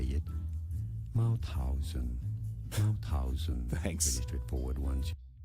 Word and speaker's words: Mauthausen: Mauthausen.